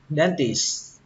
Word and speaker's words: dentist: Kết thúc bằng âm s và âm t. Dentist. Dentist. Cách đọc thứ hai độ chính xác khoảng 90%. Các bạn bỏ âm T đi cũng được, các bạn đọc là dentist. Dentist. Nhưng mà các bạn tuyệt đối không được bỏ âm S.